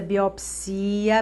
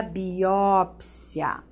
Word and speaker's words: biópsia: Olha essa aqui, você vai realizar uma autópsia ou autopsia, tá? Amnesia ou amnésia. Alopata ou o médico é um alópata. Mesma coisa, biopsia, biópsia. Olha a vida boêmia ou a vida boemia. Os dois estão corretos.